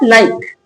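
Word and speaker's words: like: लाइक। लाइक। ये क्या है? लास्ट में इ लगा है। पर यहां कहीं इ का साउंड नहीं है।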